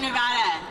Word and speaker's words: Nevada: Yeah, you'll notice I said it right. That's because I'm proud to be from Nevada.